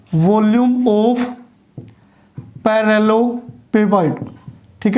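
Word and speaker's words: parallelepiped: और ये जो ट्रिपल प्रोडक्ट है, स्केलर ट्रिपल प्रोडक्ट, ये किसको रिप्रेजेंट करता है भी, वॉल्यूम ऑफ पैरेललोपेपाइड। ठीक है ना, पैरेललोपाइड भी बोल सकते हैं इसको, या पैरेललोपेपाइड भी बोल सकते हैं।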